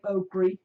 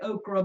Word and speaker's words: okra: Yeah, we tried not to say okri because it's not the right way to say it. We were raised saying okri, to be honest. But. Yeah, we try to say okra because that's the way it's spelled.